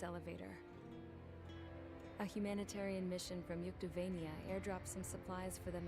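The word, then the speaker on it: Yuktobania: a humanitarian Mission from yuktovania airdrops and supplies for them again today it was meant to pronounce York tabanya anyway thanks to the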